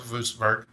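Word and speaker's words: Würzburg: I know, it's pronounced Wurzburg.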